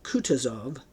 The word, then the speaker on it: Kutuzov: "General Kutuzov," said Bolkonsky, speaking French and stressing the last syllable of the general's name like a Frenchman, "has been pleased to take me as an aide-de-camp."